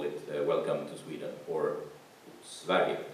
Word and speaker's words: Sverige: And we have chosen to call it Welcome to Sweden, or Sverige as it is pronounced in Swedish.